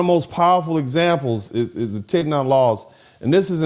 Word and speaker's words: Tignon: It's not Tignois, okay?